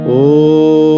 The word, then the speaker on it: ওম: আমরা দেখব ওম এবং ওম বলার সময় খেয়াল রাখবেন ম যখন উচ্চারণ করবো ঠোঁট দুটো যেন বন্ধ থাকে এবং দাঁত যেন না লাগে ওম ঠিক আছে তো যেহেতু